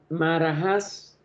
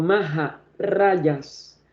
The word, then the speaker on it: Maharajas: por el gobierno inglés, los Maharajas, como le decimos en mal pronunciación, o Maharayas de los antiguos feudos en que la India estaba dividida.